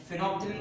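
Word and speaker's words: phenolphthalein: तो क्या बनेगा, ये फिनॉल, पूरी स्पेलिंग लिखना PHTHALEIN, फिनोप्थिलीन बोलते हैं बेटा इसको।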